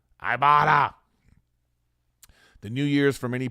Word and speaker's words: Ibotta: other sponsor today is iata IB o TTA app pronounced I ibata the New Year's for